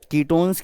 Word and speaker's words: ketone: कीटोन, कीटोन आता है ना, KETON, कीटोन, तो ओन प्रोनाउंस करना है आपको, कीटोन, ओन।